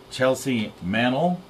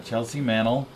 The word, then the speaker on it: Chelsea Mannel: with with Girl Scout cookies we have a Chelsea Manel did I pronounce it right yeah yeah Chelsea Manel and uh doy Manel her mom here to